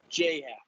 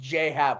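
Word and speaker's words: J.A. Happ: j cap stinks i i believe it's j hat it is just j pronounced j hat which is dumb well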